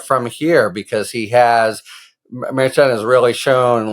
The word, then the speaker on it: Merchan: week yeah so it struck me that judge meran is how we pronounce it in New York State Court I've